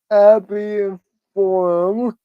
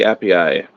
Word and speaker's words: Appii: us as far as Appy Forum. I found out. I'm So looking. I'm looking at the pronunciation of that. I pronounced that wrong. That's the Appii.